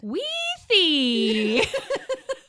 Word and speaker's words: Weethy: It's Weethy, but I'll let you say it the way you said it. Weethy.